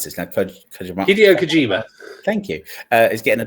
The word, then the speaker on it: Hideo Kojima: And Hideo Kojima, I can't pronounce this now. Kojima. Hideo Kojima.